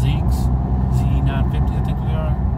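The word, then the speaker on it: Ziex: It's kind of funny because they are Falcon, pronounced Zeeks, Z950, I think they are.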